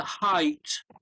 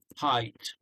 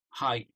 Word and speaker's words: height: for their um uh height uh you've pronounced it a bit like hate um so it's not hating yeah right yeah so it's um height height yeah so they want